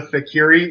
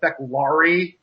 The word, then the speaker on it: Feklari: You keep referring to race as the Fakiri. Isn't it actually the Feklari? That I is actually an L.